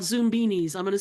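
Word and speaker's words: Zoombinis: in the '90s probably in the '90s called Zoom beanies I'm going to spell it because it has been released again as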